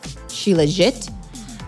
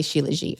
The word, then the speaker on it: shilajit: Some people pronounce the T, so it's like shilajit. But some people say shilajit. I say shilajit. So either way is fine, but we're going to